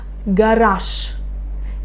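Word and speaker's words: гараж: Another example. Garage. Garage. Can you hear? I say sh. I pronounce the voiceless consonant. I pronounce the voiceless sh instead of voiced j.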